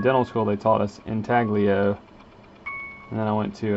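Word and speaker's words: intaglio: does say italia so i guess maybe the g is silent all right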